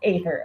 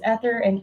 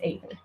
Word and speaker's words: Aether: It's Aether. Okay, I wasn't sure if it was Ether or Aether. So thank you. It's Aether.